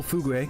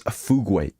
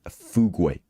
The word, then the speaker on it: Fugu: get my J Pull fug cuz what did I say chat it is the correct pronunciation her name is Fugu chat not fug not whatever the hell way you guys pronounce it Fugu she's literally the only